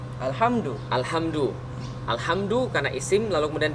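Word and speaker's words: الحمد: kalimat berarti bacanya alhamdu alhamdu alhamdu karena Isim lalu kemudian di awal kalimat bacanya alhamdu bukan alhamda atau alhamdi Kenapa lillahi lillahi Kenapa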